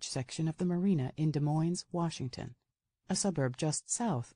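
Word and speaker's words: Des Moines: The Washington De Moines was pronounced with the s sound at the end, which gave most everybody not from there great difficulty when learning to say it so incorrectly.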